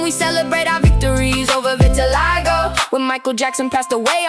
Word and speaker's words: vitiligo: If you can't pronounce it, it's pronounced vitiligo.